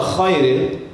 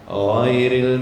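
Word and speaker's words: غير: Kenapa bisa keluar khairil? Karena kita menekannya terlalu kuat. Kalau ghain ini dia maunya ramah-ramah kita. Jangan keras-keras. Ramah-ramah. Ghairil maghdu. Jangan khairil maghdu.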